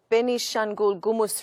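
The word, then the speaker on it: Benishangul-Gumuz: people were massacred by militia groups in ethiopia's benishan ghoul gumus region yesterday sorry about the pronunciation ethnic amharas are being persecuted again please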